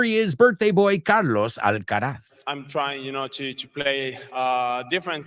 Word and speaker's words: Alcaraz: And number 3, Carlos Alcaraz, or as Americans say, Carlos Alcaraz.